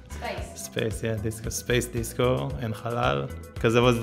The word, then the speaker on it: Halal: Disco Halal. Halal, yeah, it's like Arabic.